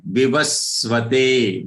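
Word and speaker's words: विवस्वते: Vivasvate. V on va there is stress or aghat or half sa. It has to be very prominent pronounced because it is coming on a Rasva letter.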